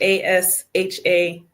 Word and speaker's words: Asha: It's spelled and pronounced just like Tasha. There's just no T.